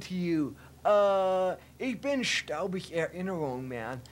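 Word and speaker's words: Erinnerung: Ich bin staubig errinerung, man.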